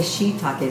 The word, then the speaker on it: shiitake: I said, you know, do you have any shiitake? He goes, it's shiitakes. And it's shiitake. But anyway, that's, you adapt the pronunciation of the culture that you live in,